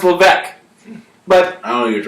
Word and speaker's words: Levesque: no, it's Levesque.